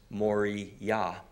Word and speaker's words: Moriah: you have Mount actually it's not pronounced mariah's pronounced mori yah and then there was the third Hill Mount